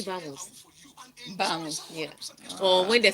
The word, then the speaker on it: vamos: when you see a V in Spanish, it's pronounced a B. So all these vamos people say it's actually vamos.